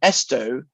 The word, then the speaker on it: esto: top left bar, then esto is phrased exactly like that. The stress is on the first syllable, but it's on the fourth beat of the bar.